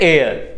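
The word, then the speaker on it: heir: को हम कहते हैं एयर यहां पे एच होता है साइलेंट और इसको पढ़ते हैं एयर एयर ठीक है फिर शिष्य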